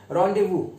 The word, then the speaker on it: rendezvous: पहला वर्ड है हमारे पास, वो है रेंडेवू। इसको बोलते हैं, जो प्रोनाउंसिएशन है वो थोड़ा अजीब है, रॉन्डेवू।